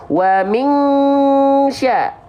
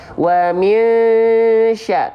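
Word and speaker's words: مِنْ شَرِّ: Selain itu, shin di sini nggak boleh. Wa min sya, nah nggak boleh. Tapi disamarkan dan dengungkan saja tanpa betul-betul kuat seperti Wa min sya. Kenapa? Karena dia ikhfanya ausat, pertengahan.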